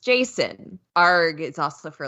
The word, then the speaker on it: JSON: I say Json but Douglas Crawford says it's pronounced Jason ARG is also for like argonut I have